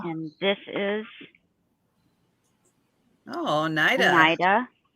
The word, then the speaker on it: Oneida: I always called it Oneida. That's probably saying it wrong. I always say Oneida. I don't know if it's I right. always pronounced it Oneida. Yeah, I've always. I don't I know think which it one is Oneida. Because they say, Is it Oneida? I think there's an Oneida, New York, if I'm not mistaken. And I think that's how they say it.